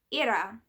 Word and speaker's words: Hera: for example I know we might say Hera in an anglicized English version of the goddess era as her name would be pronounced in Greek so pronunciations will differ